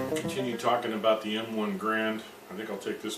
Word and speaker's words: Garand: Grand. I'm sure I mispronounced his name. It's spelled G-A-R-A-N-D, Garand, I believe.